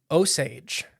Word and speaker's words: Osage: And the Osage. It's spelled like the plant, so that's how I'm pronouncing it.